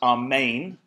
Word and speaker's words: Amen: question so be it it's a word lifted isn't it straight out of the Hebrew Anna tells me it's pronounced our main and in fact it's